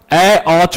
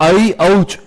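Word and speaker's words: ऐऔच्: तो ठीक है, परंतु यहां ए औच बोलते हैं, जबकि वो ए नहीं है, वो अ नहीं है, वो है आई, वो है औ। तो आई औच, इसका सही उच्चारण ये है।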